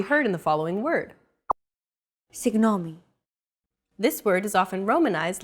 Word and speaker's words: Συγγνώμη: Συγγνώμη. This character isn't pronounced using an English G sound at all. Γ. It's like a very soft, continuous, and loosely held G, almost as if you're gargling, but don't make it sound too throaty.